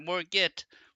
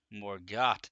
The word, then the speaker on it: Morgott: Not Morgit, Morgott.